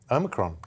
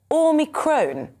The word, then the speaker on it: Omicron: He says the Greek O should be said as in or, as it is in modern Greek.